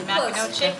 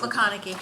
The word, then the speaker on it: McConaughey: How did I do on the name pronunciation? McCanochie? Close? McConaughey. McConaughey, oh my gosh, I wasn't even close.